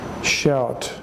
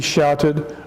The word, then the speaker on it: shout: SH o ute D when you see the letters oh you oh you together that's pronounced owl owl so we say shout shout now if there had been no you there if it had just been SH old T that would be shot but with the you